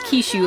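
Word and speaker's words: Kisshu: keep their names although Kish is pronounced as kishu like the Japanese version and the blue Knight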